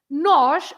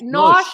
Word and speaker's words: nós: What is nós and nós? The pronunciation is exactly the same.